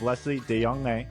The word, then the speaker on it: Lesley de Jonge: Today we have Leslie Deong, who's the executive director of Let's Keep the Ball Flying.